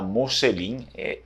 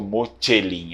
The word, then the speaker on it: Mocellin: campo, para o interior, as pessoas tendem a falar Mocelin, não tanto Mocelin, é uma pronúncia às vezes até mais de grandes centros, né?